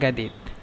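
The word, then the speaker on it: جديد: আসান আনা গাদিদ, আনা জাদিদ মূলত, কিন্তু এখানে মিশরেরা জিমকে গয়ন বলে, এই জন্য আনা গাদিদ।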